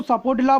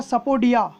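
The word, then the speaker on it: sapodilla: और प्रोनाउंसिएशन होता है सपोडिया। तो सपोडिला कहिए या सपोडिया कहिए। सपोडिला इंडियन जो प्रोनाउंसिएशन है, इसका इंटरनेशनल प्रोनाउंसिएशन जो होता है वो सपोडिया होता है।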